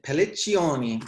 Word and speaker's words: Pelliccioni: Next, I'm going to go to Damien Pelliccioni, which is the pronunciation in Italian, but I don't know if that's how you say it, Damien. Did it right.